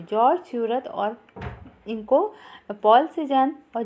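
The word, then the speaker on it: Seurat: 19 सोरा, George स्यूरत को सोरा भी कहते हैं, हिंदी में इसको सोरा कहते हैं क्योंकि सूरत लोग हिंदी में इसका प्रोनाउंसिएशन नहीं कर पाते।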